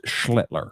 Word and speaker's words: Schlittler: How do you pronounce his last name? Cam, is it Schlittler? Yes, it's Schlittler.